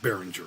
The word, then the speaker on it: Behringer: I think it's pronounced Behringer, right?